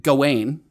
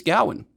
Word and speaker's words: Gawain: I'm trying to remember the name of the game, but I always said it Gawain because that's what I thought it was. But apparently it's Gawain, which is a thing I learned just the other day when I watched this movie.